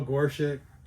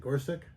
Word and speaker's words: Gorsuch: like uh uh Neil Gorchic. Gore Gorchic. How do you say that? Gorsuch.